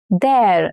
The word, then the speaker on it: there: But when you place it in there, it becomes there. It rhymes with air.